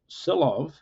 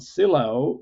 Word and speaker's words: Sylow: He was Norwegian, so I believe, in fact, that last name is pronounced Sylow, not Sylow, but many of us, at least in the US, say Sylow, even though it's wrong, but most people say Sylow.